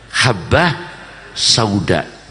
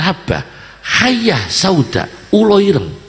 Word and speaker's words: habbah sauda: jinten Ireng apa namanya habbah Sauda jinten Ireng orangnya bacanya bukan hamba Ayah sauda ini terjadi akhirnya orang